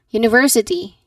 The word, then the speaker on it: university: University. University. She goes to university. She goes to university. Your turn now. Wonderful. Stress that third syllable, that university.